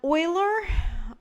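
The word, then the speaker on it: Euler: this particular notation um Oiler that's Oiler spelled like that came up with his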